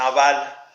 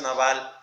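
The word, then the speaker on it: נבל: Como Naval. La palabra necio en hebreo es naval. Y si sacamos lo que realmente significa naval, miren, la palabra en hebreo para necio es naval.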